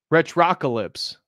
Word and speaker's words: Retrocalypse: Oh, he says, no, soft O. Retrocalypse.